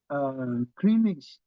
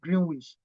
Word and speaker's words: Greenwich: That estate was called Greenish, Greenish, Greenish Residences. Do you know that I cannot even pronounce the word? I used to call it Greenwich.